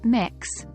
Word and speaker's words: Mx: When you're addressing someone whose gender you don't know, use MX, pronounced mix, instead of Mr.